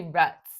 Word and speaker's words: roots: And look, it's got like the roots. Americans say ruts, depending on where you're from.